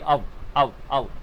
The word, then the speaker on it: of: तो अगर जब आप आगे चल के बोलोगे या तो नेटिव स्पीकर्स को सुनोगे तो इसे ऑफ नहीं बोलेंगे, इसे बोलेंगे अव, like the बैग ऑफ राम, ठीक है ना?